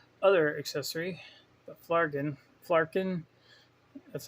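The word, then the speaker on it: Flerken: go over her other accessory the flagged in flarkin that's how you say it it's got a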